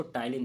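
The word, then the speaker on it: ptyalin: देते हैं एलेज को टाइलिन भी बोला जाता है टाइलिन का आप स्पेलिंग देखेंगे तो पटी वाई एल आई ए होता है पी साइलेंट होता है इसमें ठीक है एंजाइम मतलब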